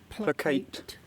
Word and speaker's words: placate: Placate. That is British English. Placate. Yeah, I said placate, but basically the same. Emphasis different on the second syllable.